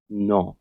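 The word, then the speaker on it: know: मेरे साथ रिपीट करो नो में जो के है यह साइलेंट है इसका प्रोनंसिएशन कुछ इस तरह होगा नो repeat with me नो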